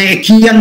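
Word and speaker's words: Achaean: আমরা একিয়ান কথাটা বলছি, একিয়ান আমরা সাধারণভাবে বলি, কিন্তু বানানটা তো তোমরা জানো A-C-H-A-E-A-N, আখিয়া।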